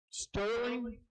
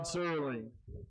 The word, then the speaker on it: Serling: Would you guys right Sterling? There's no T in Rod Serling. Okay. Okay. Serling. No T.